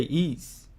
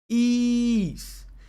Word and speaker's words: Ys: Genesis beyond the beginning he's pronoun is pronounced is oh okay ease cool ease Sinai says it's pronounced is okay oh